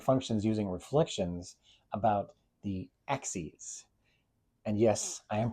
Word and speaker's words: axes: using reflections about the axes. And yes, I am pronouncing that right. I know it's spelled the same as axes, but we're not axing anyone.